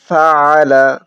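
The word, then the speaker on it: فَعَلَ: ألم تر كيف ألم تر كيف فعل আইন হলকের মধ্যখান থেকে উচ্চারণ করব, মানে গলার মধ্যখান থেকে। ফাআলা ফাআলা আলাম তারা কাইফা ফাআলা।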